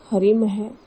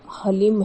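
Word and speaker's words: ह्लीं: कि हलीम है और कई लोग कहते हैं कि हरलिम है। लेकिन जो बगलामुखी के एकाक्षरी मंत्र का जो सही उच्चारण है वो हलीम है।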